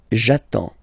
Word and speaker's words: j'attends: So the first form will be j'attends, j'attends. Okay, you get D and S, well, basically you don't pronounce them, okay, and then you get only the sound attends, nasal here, en, j'attends, okay.